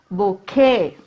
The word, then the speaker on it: bouquet: B-O-U-Q-U-E-T. Q is given here. We have to fill in these blanks. Okay, so a group of flowers is called a bouquet.